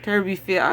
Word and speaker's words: Turbyfield: I think that this is a great interview, and I thank you so much, Mr. Turby. Turbyfield? Am I saying it right? Right. Turbyfield. Okay.